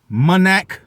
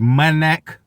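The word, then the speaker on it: Manac: linebacker in college chauncey monac i want to say munich manic but i believe it's pronounced my neck um of course at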